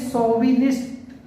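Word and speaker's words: chauvinist: इसको पढ़ते हैं सोविनिस्ट, सोविनिस्ट, सोविनिस्ट कहते हैं जो अपनी लैंग्वेज को बहुत ही ज्यादा प्रेम करता है। तो देखिए इसको सौ पढ़ा जा रहा है, सोविनिस्ट। सोविनिस्ट में ये एक फ्रांसीसी वर्ड है।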